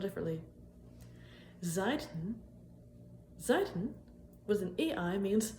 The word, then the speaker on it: Seiten: Seiten with an EI means sides, but Seiten with an AI means strings, like in guitar strings or harp strings or zither strings. Anyways though, pronunciation's pretty much the same.